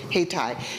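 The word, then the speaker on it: Hayti: this city called haytai named after Haiti but they pronounced it haytai it's known as the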